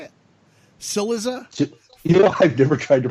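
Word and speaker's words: Cillizza: Chiliza? I've never tried to pronounce his last name. I've read it, but if you go by the standard Italian pronunciation, it'd be like Chiliza. It's Chiliza.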